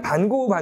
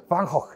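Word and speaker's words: Van Gogh: 그래서 우리 맨날 반고 하잖아요. 우리 특히 반고는 네덜란드 사람이죠. 네덜란드 사람들 반고 뭐라고 발음할까요? 완전 달라요. 못 알아들어요. 방헉 이렇게 발음해요. 그러니까 우리처럼 반고 하면 아무도 못 알아듣습니다.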